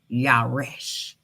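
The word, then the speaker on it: ירש: How you pronounce it. Yaresh.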